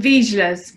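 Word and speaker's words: Vizslas: Oh, Vizsgas. Vizsgas, okay. They're pronounced differently everywhere, I think.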